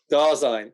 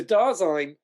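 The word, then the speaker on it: Dasein: to discover that uh it rhymes with star sign dazzling darzine okay brilliant uh that's good for this video uh we can we can have the correct da sign okay so darzyn um but it's still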